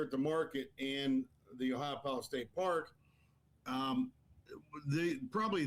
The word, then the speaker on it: Ohiopyle: park in Pennsylvania, um Ohiopyle. And everybody kind of gets that I don't know how to pronounce it, but it's Ohio like the state and then p y l e all one word.